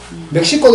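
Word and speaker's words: México: South Koreans call it in English pronunciation. But if you go to South America, you’ll find tango Mexico, ME-HI-KO, actually they hate mexico It must be Mehiko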